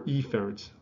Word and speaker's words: efferent: So we classify them as afferent or efferent. I emphasize the A or the E specifically so I don't get confused with my pronunciation. Afferent and efferent sound very close.